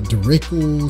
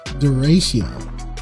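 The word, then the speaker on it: derecho: say the word i kept calling it a dirac oh i kept following uh uh dirichlet storm and finally somebody who loved me enough said it's pronounced duration and i said okay but speaking of it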